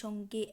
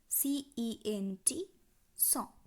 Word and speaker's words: cent: ১০০ সংখ্যাটির উচ্চারণ কি? সঁ, CENT, সঁ।